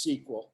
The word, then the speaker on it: SQL: so let's talk about sequel first and foremost it it's pronounced sequel as in like in a TV show a sequel and it stands for